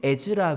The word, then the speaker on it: 에즈라: 이 모세 기념회당이 또 다른 이름이 있는데 벤 에즈라 회당이라고 합니다. 벤 에즈라 회당. 그래서 에스라 아시죠? 에스라를 이제 에즈라라고 영어로 그렇게 발음하는데 벤 에즈라라는 랍비가 있었어요.